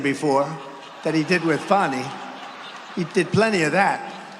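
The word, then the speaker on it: Fani: counts he worked with fonnie even though it's spelled Fanny F A ni I fonnie how about that one how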